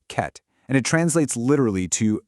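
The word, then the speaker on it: חטא: Okay, first up, we have the word chet. It's pronounced ket, and it translates literally to missing the path or missing the mark.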